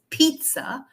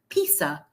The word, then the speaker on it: pizza: don't pronounce it as Pizza they pronounce it as pizza but that's not right because we have a city called Pisa in Italy as well I'm sure all of